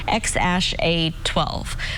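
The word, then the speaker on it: X Æ A-12: his newborn son's name musk announced earlier this month that his baby's name is spelled xae 8:12 musk pronounced ex ash 8:12 speculation arose that the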